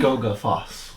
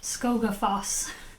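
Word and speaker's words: Skógafoss: And you can pronounce the name Skogafos. Skogafos.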